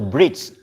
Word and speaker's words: bridge: For example, bridge. What is the final letter? Bridge. Bridge, the final letter. It's E, right? But E is silent.